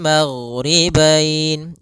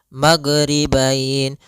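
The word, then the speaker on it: الْمَغْرِبَيْنِ: Kemudian di sini huruf ghain, hati-hati dalam pelafalannya, jangan sampai memantul, jangan maghribain wa Rabbul maghribain sampai dia memantul. Nah, karena huruf ghain tidak ada sifat qalqalah, tidak ada sifat pantulan.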